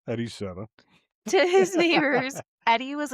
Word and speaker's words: Eddie Seda: How did you pronounce his name? Heriberto? Eddie Seda. Eddie Seda.